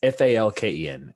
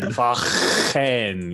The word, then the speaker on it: Falken: Oh, it's I guess Falk. I don't know how to say it, dude. It's Falken. It's not a falcon, but yeah, he is from Falken. Falken.